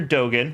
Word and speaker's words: Dogen: Dogen, which I now know is how it's pronounced, studied the plants in this ancient place, resulting in the recipe for this special medicine.